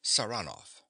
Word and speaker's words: Saranoff: He pronounces the name with a stress on the second syllable. Saranoff.